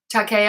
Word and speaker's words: Takei: that what you mean Takei oh I finally said your name right okay oh I don't